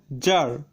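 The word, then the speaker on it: czar: Rule number 11, সিজেড পাশাপাশি থাকলে সি এর উচ্চারণ লোপ পায়। যেমন জার, এখানে সিজেড এ আর রয়েছে কিন্তু সি এর উচ্চারণ হয়নি।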